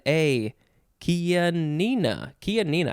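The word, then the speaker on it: Chianina: n i n a kia nina kia nina i think i said kia nia before kia nina noun from 1914 any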